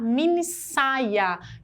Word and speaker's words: minissaia: esse daqui mini saia porque Oeste entre duas vogais tem som de essa pronúncia que a gente quer a gente quer falar minissaia que a gente deve fazer